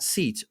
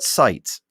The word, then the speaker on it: Seitz: It is pronounced not Seitz, but Seitz.